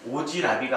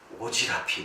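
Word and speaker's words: 오지랖이: 우리 어머님은 오지라비가 아니라 여기 모음으로 시작되는 형식 형태를 만났으니까 무엇이 일어나지 않고 음절의 끝을 법칙이 일어나지 않으니까 피읍 그대로 살죠. 우리 어머님은 오지라피 넓으셔서 오지라피라고 발음을 해줘야 되겠죠.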